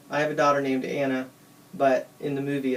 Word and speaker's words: Anna: have a daughter named Anna but in the movie it's Anna but they're all like Nordic and stuff so you have to pronounce it weird Elsa is not weird